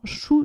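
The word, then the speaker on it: shu: Et sur le méridien vessie, au niveau du dos, il y a ce qu'on appelle les points choux dorsaux. Alors chou, ça s'écrit S-H-U.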